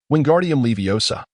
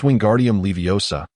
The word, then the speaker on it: Wingardium Leviosa: Wingardium Leviosa, he shouted, flailing his arms like a windmill. You've got it wrong, Hermione interjected curtly. It's Wingardium Leviosa. The gar has to be pronounced clearly.